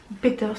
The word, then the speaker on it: Peeters: artiste qui s'appelle emma peeters peters mais je pense quand on prononce plutôt al anglaise qui est une chanteuse